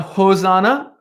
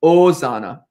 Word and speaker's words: Hosanna: a reminder it's not hosanna um in this version of latin we're doing you don't pronounce the h so it's osana ozana enoch chelseas ozana